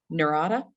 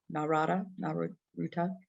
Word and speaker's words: Narita: from China, and his transfer flight was through Narita in Tokyo. If I'm pronouncing that Naruta.